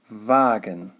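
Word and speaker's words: Wagen: have water that's vassa another one is the word wagon which is dear vargan which as you saw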